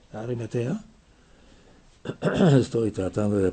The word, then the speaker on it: Arimatea: ¿Arimeteo? ¿Cómo se dice? Arimatea.